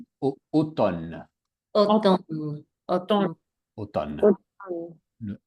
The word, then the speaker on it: automne: Donc on ne prononce pas automne automne automne automne automne. Le m pas beaucoup de gens disent automne mais pas automne. Automne pas de m.